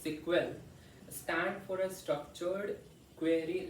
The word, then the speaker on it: SQL: Sequel, pronounced sequel, stand for a structured query language, a programming language used to communicate with a database.